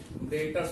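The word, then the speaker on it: debtors: मतलब होता है सन्ड्री डेटर्स, इसको हम कहेंगे। इसके अंदर जो बी होता है वो बी साइलेंट होता है और सन्ड्री मतलब होता है वेरियस।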